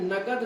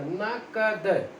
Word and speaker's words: नकद: नगद शब्द ठीक मतलब सही उच्चारण नहीं है उसका, नकद, उसका उच्चारण ठीक है, ठीक है।